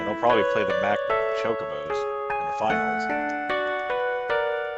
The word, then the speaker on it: Chocobos: I tell you, the Mog Mog Moogle team will make it, and they'll probably play the Mac Chocobos in the finals. Your pronunciations are wrong. Chocobos. Not Chocobos.